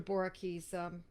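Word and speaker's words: Boericke: that may be online by the way dr boerke's materia medica borah key is spelled b-o-e-r-i-k-e uh the person is quarrelsome obscene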